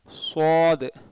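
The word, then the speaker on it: ص: இது வந்து ஒரு லெட்டர், சாது சாது, சாதுன்னு சொல்லக்கூடாது, ஷாதுன்னு சொல்லக்கூடாது. சீன் உச்சரிப்பு வச்சு சொன்னீங்கன்னா சாது தப்பு, ஷீன் உச்சரிப்பு வச்சு சில பேர் சொல்லுவாங்க ஷாத், அதுவும் தப்பு. இது சாது சாத், அதையும் சில பேர் சூ சொல்லி சுவாதுன்னு சொல்லுவாங்க, அதுவும் தப்பு.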